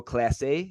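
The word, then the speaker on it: Clase: Michael kopeck and Emmanuel Class A am I saying that right Emmanuel Class A uh I I think it's Clays place I think it's pronounced Clays but I could be wrong actually I thought it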